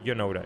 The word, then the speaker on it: Janota: I do not know these guys, but you know, for me it's a J, but it's a Y, so Janota.